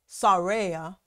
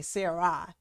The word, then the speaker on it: Sarah: Sarah, it's actually pronounced Sarea. It was changed to Sarah, or some say Sarai, but it was changed from Sarea to Sarah.